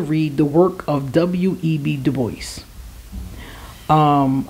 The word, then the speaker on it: Du Bois: the work of W.E.B Du Bois um I think it's Dubois but for some reason Americans say Du Bois anyway we've read this